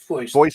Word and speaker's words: Foist: I'm assuming the last name is pronounced Foy. Yeah, Foist. Okay, it's actually. Yeah, I was going French. Okay, we'll go Foist.